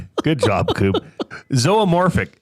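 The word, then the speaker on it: zoomorphic: Zoamorphic. Z O O M O R P H I C. Oh, it's It looks like zumorphic.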